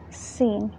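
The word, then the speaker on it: سين: Now some people pronounce it like tha. That's wrong. Sin has a sharply whistling sound.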